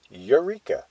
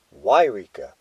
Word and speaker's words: Yreka: Firstly, it is not pronounced eureka but rather wir with a hard Y at the beginning.